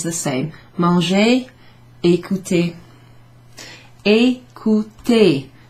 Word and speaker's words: écouter: Manger, écouter. Écouter. Two accents there over the E's, so they're both pronounced the same way.